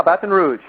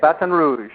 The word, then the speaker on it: Baton Rouge: Did I pronounce that right? Yeah, Baton Rouge. Baton Rouge? That's how they say it, Baton Rouge.